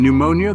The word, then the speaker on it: pneumonia: silent letters I mean can we talk about the p in pneumonia that P is about as useful as a chocolate teapot and don't even get